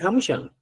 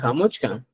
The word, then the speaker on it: Hamuchkan: O sea, usted puede hablar, decir Hamushan, pero también puedo hablar Hamuchkan.